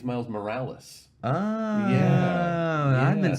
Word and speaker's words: Morales: See, I thought it was like a play on morals.